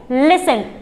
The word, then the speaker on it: listen: अभी तक टी का साउंड आ रहा है, बट जैसे ही मैंने इसके बाद EN लगा दिया तो यहाँ पर टी क्या हो जाएगा, साइलेंट। तो हम इसको पढ़ेंगे लिसन।